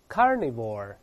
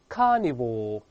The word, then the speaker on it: carnivore: 当然老师用的是美式发音，英式发音的前后都没有卷舌音，这么读大声点 carnivore，就是美音